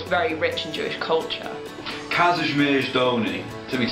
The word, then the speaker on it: Kazimierz Dolny: Kazimierz Dolny.